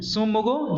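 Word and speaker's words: Tsomgo: सोमोगो झील, इसमें टी जो है वो साइलेंट है, ध्यान रखिएगा।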